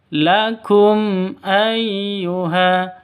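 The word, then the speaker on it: لَكُمْ أَيُّهَا: juga tidak boleh didengungkan lakum ayyuha itu salah ya Yang betul lakum ayyuha kum ayyuha seperti itu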